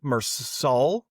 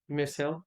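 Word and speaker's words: Meursault: The story follow follows Mersault Mersault. I know cuz I'm seeing a T and I didn't pronounce it.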